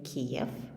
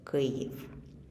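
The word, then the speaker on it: Kyiv: our capital city correctly many people say kiev which is not quite correct because this is the russian name for our capital city but the ukrainian version of that is grave so kiev is the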